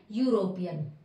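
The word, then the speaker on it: European: ई हो गया, ई अगर हम देखें तो हमारा किसमें है, लेटर तो कॉन्सोनेंट में, लेकिन ई हमारा यहाँ पर क्या है, ई हमारा यहाँ पर साइलेंट है, और मैं इसको बोल रही हूँ क्या, यूरोपियन। तो यहाँ पर य का साउंड आ रहा है, य का साउंड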